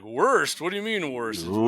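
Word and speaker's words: Wurst: Like, so somebody who doesn't know German to be like, worst? What do you mean worst? Oh, no. W-U-R-S-T. Mm-hmm. Worst is how they say it in German.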